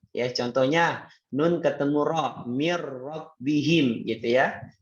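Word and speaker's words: مِن رَّبِّهِمْ: Ya, contohnya nun ketemu ra, mir rabbihim, gitu ya. Mir rabbihim, nggak boleh bacanya min, ya, atau bacanya mir, harus dimasukkan dan tidak ditahan.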